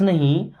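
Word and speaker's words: know: miss मैं don't miss नहीं नो इस वर्ड में के और डब्लू साइलेंट है ना आई डोंट नो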